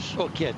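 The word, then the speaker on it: Hourquette: 5 there to the summit of this one, Horquet, is that the way you pronounce it? Horquet, yeah.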